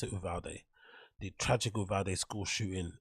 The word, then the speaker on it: Uvalde: You pronounce it Uvalde.